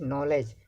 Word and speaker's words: knowledge: First one is knowledge. So here K is silent.